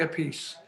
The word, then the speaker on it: Appice: pronounced well i i since i joined rod we say a piece yeah because everyone said